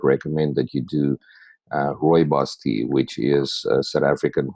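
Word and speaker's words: rooibos: that you do uh Roy boss tea which is sou African red tea and is commonly known as red tea or Roy Roy boss r o o i b oos is how you spell it and you can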